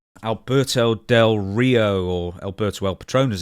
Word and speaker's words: Del Rio: Alberto Del Rio or Alberto El Patron as he's known. Say his name right. Del Rio. You got to roll the R. Del Rio.